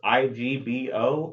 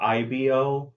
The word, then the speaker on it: Igbo: but it's either pronounced Igbo or IBO depending on if it's the old or new they're both pronounced Evo Igbo is the newer pronunciation so when they use